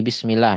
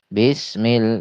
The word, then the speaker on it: bismillah: Mungkin teman-teman pernah dengar ada yang ee membacanya terdengar seperti e bism bismillah bis gitu ya. Bismillah bis. Nah, ini hati-hati. Jadi, bukan menuju E, B gitu ya, tapi ke I dijelaskan. Bismillah seperti itu.